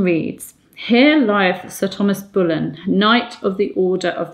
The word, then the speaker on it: Boleyn: now you'll notice that I said Sir Thomas Boleyn now it it would have been pronounced Berlin but I just said that because I wanted